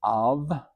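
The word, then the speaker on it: אב: Aleph, here's an aleph carrying a full note A into the vet, the V sound, so that's av is the first part of this name.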